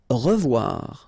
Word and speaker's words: revoir: Revoir. Okay, remember to pronounce this like a revoir. O-E together is pronounced like wawa. Revoir.